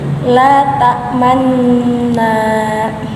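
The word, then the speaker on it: لا تأمنا: Cara bacanya saat di bagian nun tasdid monyongkan kedua bibir seperti ini. La tamanna.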